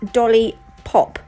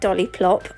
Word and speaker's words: Dollipop: It's Dollipop, not Dolliplop.